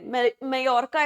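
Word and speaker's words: Mallorca: सो मेयोरका जो है मेयरर्का इसको प्रोनाउंस करते हैं।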